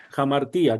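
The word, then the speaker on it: ἁμαρτία: Por ejemplo, aquí jamartia. Jamartía. Jamartía, correcto. Y observa cómo está el espíritu áspero. Esto nos indica que hay una J al inicio.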